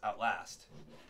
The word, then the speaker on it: Outlast: It's Outlast. Outlast. Yeah, emphasis on the last.